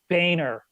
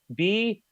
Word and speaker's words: Boehner: By the way, this guy's name here, how does he get Boehner out of his last name? Boehner? Really? That's like calling me. My name is David Seaman. I mean, it's spelled not Boehner.